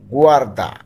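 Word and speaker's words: guarda: গুয়ারদা।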